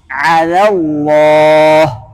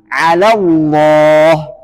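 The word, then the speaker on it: على الله: baca tipis Nah maka lam jalalah atau lam huruf Allah itu dibaca tebal apabila didahului oleh fathah atau damah contoh fathah alallah ah J yang dibaca teal apanya lam yang kedua ala fathah alallah ah bukan alallah Allah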